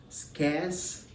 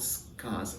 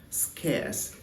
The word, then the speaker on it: scarce: and not scars okay scarce and not scars so when you pronounce kiss it should rhyme with air scarce air the air you